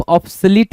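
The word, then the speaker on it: obsolete: ओल्ड के अलावा आप ऑब्सोलट भी मार्क कर सकते हो। ऑब्सलिट spelling O बी एस ओ एल ई टी ई ऑब्सलीट।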